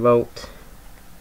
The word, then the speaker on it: Rolt: John Rolt, or John Rowe as he's pronounced.